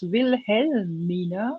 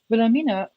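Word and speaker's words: Wilhelmina: Uh Syi it I don't know it might actually be that her actual name was Vil Helmina. So, uh, w i l h e l instead of your spelling. But because English speakaking people couldn't just pronounce this, they made vamina um out of this name.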